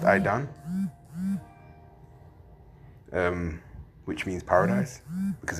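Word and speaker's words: עדן: The word Eden in the Hebrew is pronounced I don, um which means paradise because it looks beautiful.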